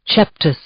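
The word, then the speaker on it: coeptis: That's pronounced cheptus.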